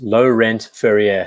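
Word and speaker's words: Laurent Ferrier: to tom black ceramic great ceramic fun it's pronounced low-rent furrier thank you she's on so yeah I really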